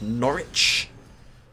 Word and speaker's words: Norwich: old manheim north northwich which is of course norwich because they don't really pronounce it north do they they already pronounce it norwich essentially the game has